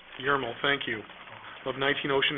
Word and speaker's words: Yarmel: Carol Yarmel, did I pronounce that correctly? Yarmel. Yarmel, thank you, of 19 Ocean Ave.